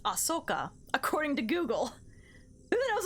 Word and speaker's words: Ahsoka: Ahsoka. Ahsoka. Oh, so I was pretty much right. There's an H in there, but it's pronounced Ahsoka, according to Google.